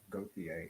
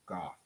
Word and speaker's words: Gothier: It's not Gothier, it's Goth. He's saying just as Goth.